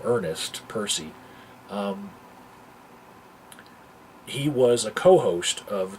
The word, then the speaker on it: Eperce: And in this instance, the YouTuber that I'm talking about is Eperce, Eperce, but it's pronounced Percy.